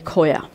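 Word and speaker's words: khoya: U frozen section you can often find it it's spelled k h o y a Coya okay uh and that's just the milk solid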